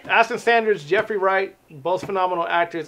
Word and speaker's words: Ashton Sanders: So it's Aston Sanders, Jeffrey Wright, both phenomenal actors, and yourself a phenomenal actress and a host of other people.